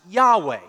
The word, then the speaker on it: Yahweh: Scholars in the past few years have decided that probably it was more likely pronounced Yahweh. So I like to pronounce it that way.